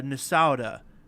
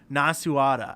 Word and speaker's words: Nasuada: but there's another character I called I I pronounced it uh uh nasouda or uh something like that Minnesota uh and and the actual pronunciation is like nasuada and I'm like what yeah oh but like